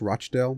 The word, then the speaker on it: Rochdale: well by the way it's probably pronounced Rochdale but I'm gonna say Rockdale until further notice midfielder here